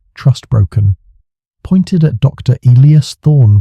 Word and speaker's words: Elias: Elias Thorne, pronounce Eli as Thorne, but felt too pat like a breadcrumb dropped for a fool.